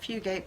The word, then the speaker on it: Fugate: alaskans in the Fugate pronouncing it Fugate because that's how it